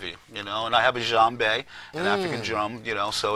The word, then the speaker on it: djembe: I still enjoy playing, and it's a part of you, And I have a djembe, an African drum, so it's, See, I could tell you for real because you even said it right.